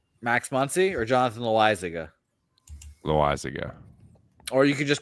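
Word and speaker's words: Loáisiga: How do you pronounce his name? Max Muncy or Jonathan Loizaga? Loizaga.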